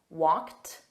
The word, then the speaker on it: walked: hood let's review walked notice that's also a soft tea walked walked excellent repeat the